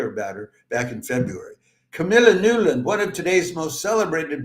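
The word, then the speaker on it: Camilla Nylund: It's Camila Nulan is the way it would be pronounced in Finland.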